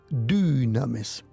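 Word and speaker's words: δύναμις: El poder viene, esa palabra poder en griego dunames. Se pronuncia como una u, pero no existe la u. Es una y du.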